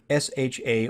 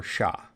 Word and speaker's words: SHA: the secure hash algorithm pronounced either sha or shah shock consists of a